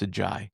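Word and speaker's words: Ajayi: And then Jason Green took the challenge to AJ Jai. I don't know. Everybody pronounces differently, but it's a Jai.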